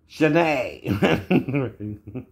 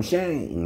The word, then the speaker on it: Shane: it's like my name i don't pronounce it shanae so i could it ends with an e2 but i don't call myself i'm shane right but it's even